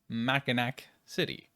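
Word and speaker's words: Mackinaw City: I would argue is maak City yes it's spelled MAA but it's maak along of course with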